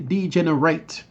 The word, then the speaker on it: degenerate: And there are two pronunciations of this. You have degenerate and degenerate. But here we're going to say degenerate, because here this is a verb.